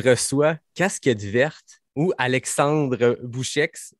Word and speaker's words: Boucheix: Je reçois Casquette Verte ou Alexandre Bouchex. Comment tu prononces ton nom de famille? Ah ben, tu l'as très bien prononcé. On bien prononcé. Ouais, on prononce merci. le X. Voilà, le X.